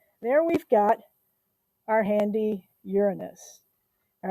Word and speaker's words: Uranus: it's the seventh planet uranus and we do say it like that because otherwise there are so many jokes um we know most